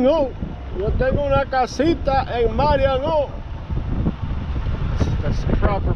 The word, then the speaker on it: Marion: Marion, yo tengo una casita en Marion. That's the proper pronunciation.